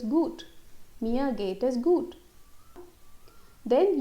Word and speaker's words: gut: It's not gut, gut. Yeah, there's a difference. Gut, gut. So it's gut.